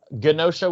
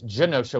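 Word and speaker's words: Genosha: uh i pronounced it ganosha with a hard g and then everyone is like no no you're you're wrong it's jenosha with a soft uh oh and like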